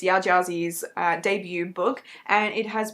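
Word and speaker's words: Yaa Gyasi: Correction, saying the name wrong. It's Ya Gyazi.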